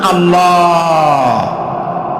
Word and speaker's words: আল্লাহ: আল্লাহর নাম আল্লাহ।